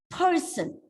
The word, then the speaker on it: person: Person, it's a noun, 2 syllables. Of course, the first syllable has to be stressed. What about this? It's not person. You don't pronounce the word as person. It is person. Person. Make it shorter.